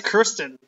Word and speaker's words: Kirsten: So you pronounced it wrong. You said Kristen, right? Oh. I think it's Kirsten.